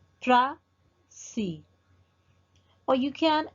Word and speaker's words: précis: In one pronunciation, you can stress the first syllable like prècis, prècis, or you can accent the other syllable.